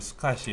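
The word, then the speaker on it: SCSI: 다음에 이 id 그다음 s 카쉬 독스 카시 라고 읽어요 콩 볼 이슈를 스카시 이렇게 거야 근데 이거는 개인용 컴퓨터에서 사용하던 방식이고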